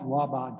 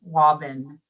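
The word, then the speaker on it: Waaban: The name is the Waban Crossing, Waban. So it's a longer A sound. Thank you. Waban Crossing.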